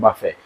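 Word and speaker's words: buffet: number आपको मिल गया बफे बफे क्या होता है इसमें आपको टी साइलें मिलेगा टी साइलें मिलेगा और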